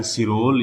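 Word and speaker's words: Chirol: Valentine सिरोल, या उसी को इंग्लिश में चिरोल भी बोल सकते हैं। क्या बोल सकते हैं? चिरोल, क्योंकि इसकी स्पेलिंग होती है ये। ठीक है, अब उसको तो सिरोल पढ़ लो या चिरोल पढ़ लो।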